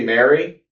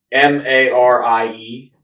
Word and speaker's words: Marie: It could be it could be Mary. I feel like it's spelled like Marie, but it could be Mary. What's the spelling? M A R I E. I I would call that Marie.